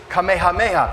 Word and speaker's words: Kamehameha: father said Dr P this is Kamehameha that's how they pronounce the names here so then father was